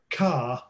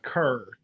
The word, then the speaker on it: Kerr: Is that Carr or Kerr? It's Kerr. Kerr. Right. Kerr.